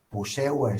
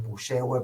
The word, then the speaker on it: Puyehue: Por ejemplo, cerca donde está el volcán Puyehue. Yo, perdón, le digo en súper porteño, le digo Puyehue, pero los lugareños le dicen Puyehue, que es totalmente distinto a cómo lo pronuncian.